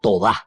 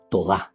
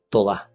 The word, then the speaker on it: todá: En hebreo se dice toda, todá. Toda no dice gracias, todá, todá. Entonces aquí esta acción de gracias y al mismo tiempo de alabanza todá estoy alabando, estoy agradeciendo, o sea, exulto desde adentro.